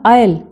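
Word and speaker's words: aisle: that pushed along the आयल बेटा एस इसमें silent है ए आई एस एल E word लिखा है ना इसको आयल बोलना है हमने तो एकदम से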